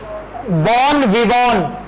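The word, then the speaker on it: bon vivant: और last word लिखेंगे सभी, बॉन विवॉन, बॉन विवॉन, ये विवेंट नहीं होता, बॉन विवॉन, ये वी वॉन है, ठीक है, इसको विवेंट नहीं लिखना, बॉन विवॉन, ठीक है।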